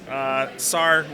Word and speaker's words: Sahr: Sahr rhymes with car with a silent H, so S-A-H-R.